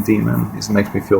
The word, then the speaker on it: daemon: Is it demon or daemon? They spell it D-A-E-M-O-N, but I think it's just ancient Greek way of spelling demon. So, should I say daemon or demon? I like to say demon because, normally I say